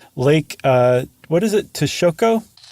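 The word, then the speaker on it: Texcoco: uh what is it tashoko I think probably Tesh Coco Tesh Coco thank you so lake tashkoko is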